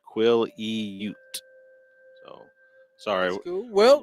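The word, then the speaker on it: Quileute: But yeah, I guess it's pronounced Quilliute, is what they said. Quilliute.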